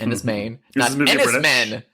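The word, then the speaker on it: Enys Men: It is a woman uh alone on an island called Enismain. E N Y S M E N. So come on Americans, pronounce it right. And is Main.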